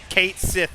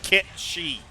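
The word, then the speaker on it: Cait Sith: Do not tell me Kate Sith is pronounced Kit Shi.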